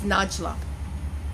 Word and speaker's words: Najla: foremost my name is njla now it's very difficult to remember and it's difficult to pronounce so the easiest way is nudge nudge and you sing la la the njla the name itself is